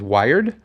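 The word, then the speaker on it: Wyrd: there for I believe his shop's name is Wired. It's pronounced something like that. Yeah. Yeah. Wired. W Y R D. I'm we're going to say wired, you know. Yeah, I'm going to go with wired.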